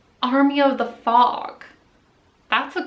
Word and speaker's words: Amrie: Oh, plus my camera is named Army. But it's spelt weird.